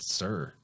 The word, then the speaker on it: Tyre: But they pronounce that Tyre word pronounced sir. Huh. Yeah, but then you see it and you would think it means tier or says tire, but it's actually sir, which is pater, which